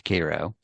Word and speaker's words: Cairo: talking about Cairo, Georgia, it's not Cairo, it's Cairo, and Houston Mill Road, it's Houston Mill Road, and Yeah.